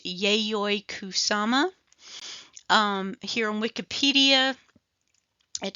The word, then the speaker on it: Yayoi Kusama: who this lady is I believe her name is pronounced yayoi kusama um here on Wikipedia